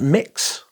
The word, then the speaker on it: Mxxx: of Eros parfum's mxx or as it's pronounced mix there is an MX